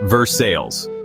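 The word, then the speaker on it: Versailles: Next up, Versail, Kentucky. Pronounced Vers Sales.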